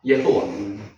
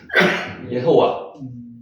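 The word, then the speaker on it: יהוה: 여호와, 예호와. 여기는 오가 위로 올라갔으니까 오가 나죠. 예호와. 예호와.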